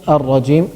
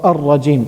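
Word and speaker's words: الرجيم: It is shamsiyah. It's not pronounced. Because it has a ra after it, and ra is one of the letters of lam shamsiyah.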